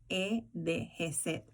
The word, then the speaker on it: Hesed: Y ese legado se trata de una palabra hebreo y es la palabra Hesed. Hesed. En español, la pronunciación se escribe J-E-S-E-D, Hesed.